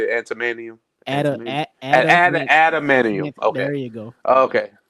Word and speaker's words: adamantium: But tying in the antimanium. I mean, is that how you say it? Antimanium? Adamantium.